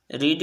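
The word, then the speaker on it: read: तो this book, subject क्या है, यह किताब क्या पढ़ी जा चुकी है, दिस किताब, दिस बुक हैज़ सिंगुलर ही है, हैज़ बीन रीड की स्पेलिंग होती है, प्रोनाउंसिएशन बदल जाता है, रेड, this book has been रेड।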